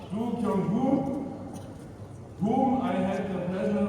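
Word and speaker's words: Dongyu: After all, who is the director general of the SAO, a Chinese national, his excellency Hu Dong Yu, you may speak, spell it right, Dongu, whom I had the pleasure of meeting at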